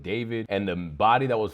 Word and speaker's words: D4vd: Again, I kept pronouncing it D4vd, but David, and the body that was found in the Tesla.